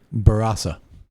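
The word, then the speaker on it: Barossa: enough to uh correct us actually on our pronunciation which we should actually be saying barasa that is actually the correct way to say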